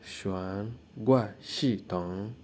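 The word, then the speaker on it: 悬挂系统: So car suspension is pronounced as xuan gua xi tong. So car suspension is called cho da xuan gua xi tong. Okay, can you pronounce that? Okay, cho da xuan gua xi tong.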